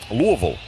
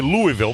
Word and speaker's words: Louisville: SMU leads U Louisville 2113. I normally I'd say Louisville, but I know that's I was corrected. It's Louisville. That's how you say it.